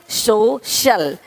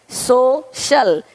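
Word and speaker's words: social: अब देखो, यदि सी के आगे आई ए हो तो सी का उच्चारण श होता है। क्या होता है? श होता है। क्या लिखा हमने? सोशल, सोशल, सोशल।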